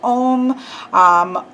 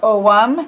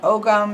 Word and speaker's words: Ogham: you will also see pronunciation such as ohm or om those are the most popularly accepted a way to pronounce them correctly of course some people say oh gum because they put that hard G in there hmm but this is